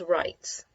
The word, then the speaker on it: write: you'll see right away the tricky part of this word is there's a w at the beginning the W you don't hear there's a few other words